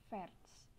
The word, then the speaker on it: fährst: Untuk du di sini du-nya bukan jadi fars, nah tapi a-nya jadi umlaut. Kak biasanya kan gini ya, fars ini, nah a-nya dikasih umlaut jadi bacanya fährst.